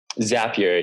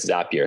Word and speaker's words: Zapier: pronounce it wrong but is it zapier zapier yeah there their slogan is happier with zapier so that's how I always remember it what what how exactly does that work so zapier has is built around